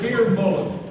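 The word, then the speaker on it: Fir Bolg: Next up, a pronunciation down here. The Fear Bollen, they're called.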